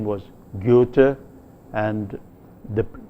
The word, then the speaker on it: Goethe: dramatist his name was Goethe and the in pronouncing the name of this dramatist the vowel involved the the first vowel is a vowel which is a front vowel but said with lip rounding so you say